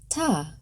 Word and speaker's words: Tet: Tet, pronounced ta.